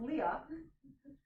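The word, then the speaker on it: Lia: It's like L-I-A is written L-I-A, but pronounced Leah.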